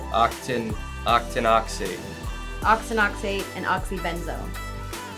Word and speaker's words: octinoxate: One is oxybenzone and the other one is oxynate. They are both harmful to reefs. Did I pronounce that correctly? It's like octinoxate.